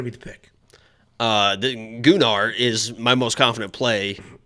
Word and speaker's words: Gunnar: agree it's not good stop saying it is gular it literally is the Chad confirmed it it's gunar that's how you say it and they're just they're